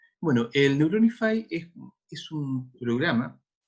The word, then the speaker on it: Neuronify: programa que se llama se escribe neurona y al final y se pronuncian bueno él neuron ifai es como es un